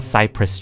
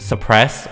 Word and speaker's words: cypress: warm lighting here a cypress tree I just recently learned how to say this word Cypress I kept calling it suppressed or compressed tree I kept thinking it was like depressed tree I need to do